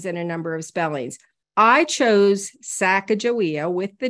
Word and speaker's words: Sacajawea: differently than I do so I call her saaka joia there's um a spelling with a J which